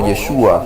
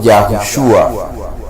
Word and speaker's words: Yahushua: Entonces debe ser deletreado, y el verbo como Yeshua, no como Yeshua, ¿sí?, sino como Yahushua.